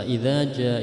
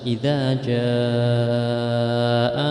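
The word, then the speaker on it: إذا جاء: Nah, kebanyakan dari kita membaca idza jaa itu pendek. Idza jaa nasrullah, padahal itu mad wajib muttasil. Bacanya wajib dibaca 5 atau 6 harokat atau 2,5 alif atau 5 sampai 6 ketukan. Bacanya harus idza jaa nasrullahi wal fath, jadi panjang idza jaa gitu.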